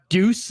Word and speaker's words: Duijs: Or Deuce is how they say it.